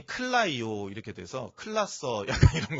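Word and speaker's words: κλαίω: 그래서에 발음이 클라이오 이렇게 돼서 클라서 약간 이런 거 비슷한 느낌이잖아요.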